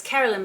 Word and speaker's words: Carolyn: And I remember her saying to me, it's Carolyn Michelle rhymes with violin.